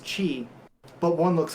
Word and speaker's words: qi: and then you'll see chi and they're both pronounced qi but one looks like key because it's a